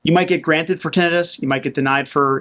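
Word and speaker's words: tinnitus: claim hearing loss and denitis or tenus heard pronounced both ways although I'm pretty sure it's tenus you might get granted for tenus you might get denied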